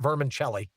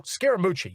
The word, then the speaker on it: Scaramucci: pronounce his last name it's not vermin shelley what is it oh scaramucci you're right thank you very